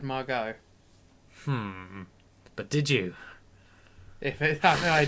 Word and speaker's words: Margot: Yeah, I thought Margot Robbie did a good job. Margot Robbie. Yeah, that's the actress's name. You said Margaret. I said Margot.